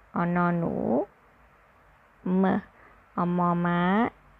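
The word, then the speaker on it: หมา: puppy dog Which is in Thai we say Ma It's like which is right in Thai with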